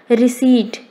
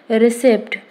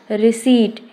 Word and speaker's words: receipt: Receipt. P is silent here, but most of the people pronounce it recept. It's a wrong pronunciation. Receipt.